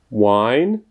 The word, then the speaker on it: wine: Zatímco hláska V se vyslovuje jako typické české V, jako například ve slově výslovnost, zatímco to dvojité V vyslovíme tak, že vyšpulíme rty, jako bychom chtěli například někoho políbit, anebo říct U, hlásku U, ale místo toho potom řekneme V.